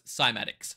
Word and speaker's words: Cymatics: frequencies on matter well now we know it's simatics sorry about the uh